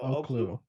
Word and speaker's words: Oklou: It's spelled Oklou. So Oklu.